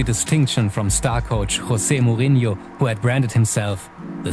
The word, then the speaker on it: Mourinho: That is interesting philosophy if you think back when Mourinho, how to pronounce it properly? Mourinho.